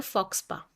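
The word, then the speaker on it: faux pas: उसका वर्ड होता है फॉक्स पा पी ए एस होता है एस साइलेंट होता है वेरी इंपॉर्टेंट वर्ड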